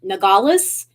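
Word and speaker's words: Nogales: the Buffalo Exchange Outlet it is in um nagalas I think it's how it's pronounced in Arizona it's right on the border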